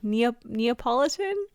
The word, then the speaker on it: Neapolitan: Neapolitan?